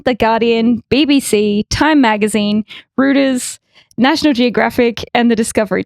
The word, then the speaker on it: Reuters: It's Reuters, but you were very close.